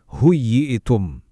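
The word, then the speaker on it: حييتم: Begitu juga kata huyitum, dibacanya harus tegas, huyitum.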